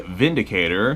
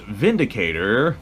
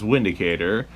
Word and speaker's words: Windicator: an EA a a Vindicator spelled windicator but because Germany which is where this gun is from Germany pronounces their W's as V's it is pronounced Vindicator versus windicator it's a six shot